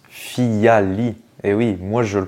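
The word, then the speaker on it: Phyllali: prononce fiali ou Filali et bien il se prononce fiali et oui moi je le prononçais mal depuis tout ce temps je disais Filali non c'est fiali euh FIA ça vient de feuille en latin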